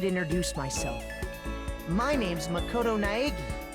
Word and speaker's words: Naegi: myself my name's Makoto naagi the way they pronounce Nai in the dub never stops being funny it's like eggy eggy as you can see